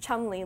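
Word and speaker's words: Cholmondeley: of swaddling this is a portrait of the Chumley ladies it's actually how it's pronounced Chumlee ladies and they were two sisters who got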